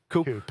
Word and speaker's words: Koepp: Ça s'écrit comment? C-O-E-P-P. Comment t'as dit, toi? David Koepp. Cup.